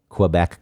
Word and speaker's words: Quebec: mhm Quebec Quebec Quebec I know it's I I don't like saying it that way Quebec it just feels pretentious I don't know why because if it's the proper way to pronounce it then why not pronounce it Quebec but it's like I